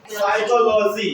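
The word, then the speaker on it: psychology: से पहले प आए ए से पहले पी आए तो पी क्या आता है साइलेंट हो जाता है से पहले क्या जाएगा प आएगा तो प क्या हो जाएगा साइलेंट हो जाएगा जैसे देखो साइकोलॉजी क्या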